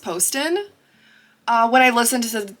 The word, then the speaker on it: Poston: Poston and or actually I found out it's pronounced Poston uh when I listen to the audiobook of